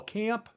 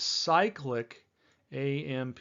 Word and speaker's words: cyclic AMP: Calcium's very, very common in this fun molecule that some people will call CAMP, but the correct way of pronouncing it is cyclic AMP, cyclic adenosine monophosphate.